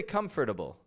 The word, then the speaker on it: comfortable: if it's comter comter I take the F and then I go straight to the T and then I rearrange the letters I don't say comfortable comfortable comfortable you comfortable